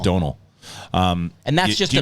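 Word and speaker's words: Domhnall: carell gleeson it's spelled don hall but it's pronounced donal um and that's just i mean you mean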